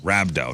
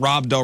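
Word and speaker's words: rhabdo: mispronouncing four times already R rabo not Robo rabo and rabo is what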